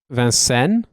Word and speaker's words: Vincennes: One of the reasons why it's got a French, I mean, obviously, if I were to pronounce that the way that you would pronounce it in French, it would be Vincennes.